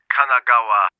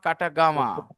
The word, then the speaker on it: Kanagawa: I'm from Yokohama, Kanagawa. I am from Yokohama, Katagawa. Kanagawa. Kanagawa. Renu is laughing. I didn't pronounce it correctly.